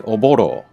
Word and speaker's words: Oboro: Okay, oboro. Oboro. That's another R sound there.